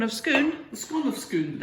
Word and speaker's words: Scone: They've got a place in Perth that's spelled S-C-O-N-E, scone, to you and me. But for people of Perth who can't manage ordinary speech, it's scoon.